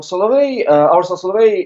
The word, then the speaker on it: Solovey: Solovey.